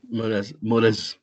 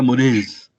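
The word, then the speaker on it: Morazé: Y los líderes de esta generación fueron Fernand Braudel, Charles Morais, no sé cómo se pronuncia. Mores, Ok. como si fuera Mores.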